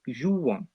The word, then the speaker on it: jouons: We don't pronounce that S still, just like in tu, because it's the very last letter, but we do pronounce the O and N.